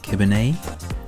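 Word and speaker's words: kibinai: Before getting back on the road again, we stopped off for some of these pasties, which are apparently pronounced kibbenay, which is almost like a Cornish pasty.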